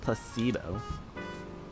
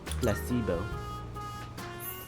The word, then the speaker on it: placebo: ] the stress is on the middle syll Placebo Placebo very good a placebo is a pretend pill